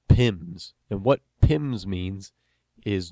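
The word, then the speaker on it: PIM: called pins and what pins means is just the way we pronounce P I M which is an abbreviation for penalties in minutes because penalties are varying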